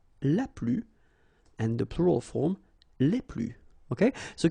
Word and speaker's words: les: and the plural form Le okay so keep in mind that I don't pronounce it this final s here so we get okay